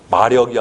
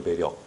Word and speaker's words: 매력: 마력이 아니라 매력이죠. 매력. 매력. 그래서 따라해. 홀릴매, 힘력.